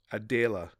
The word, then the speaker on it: Adele: wanted to see classmates like her parents pronounced her name Adela closer to the German pronunciation with its more lyrical sound it fit friends were